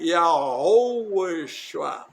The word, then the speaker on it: Yahushua: Lembra que eu estou falando todas as letras do nome do Pai. Yahushua. Tem um rezinho nessa meio da palavra.